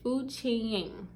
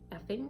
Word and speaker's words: FQNING: It's FQNING. And the only reason that I know that, because I was honestly pronouncing it like effing, basically.